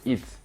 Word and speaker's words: ETH: a pour utility token le ETH prononcé it qui permet de payer